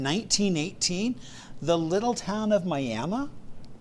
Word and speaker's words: Miami: Now, I've heard other people pronounce it Miami just like the other the place in Florida, right? But I was I was told it was Miami.